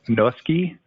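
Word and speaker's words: Noeske: the public works department is uh is stefan gnoski and it's spelled n-o-e-s-k-e and he is the development senior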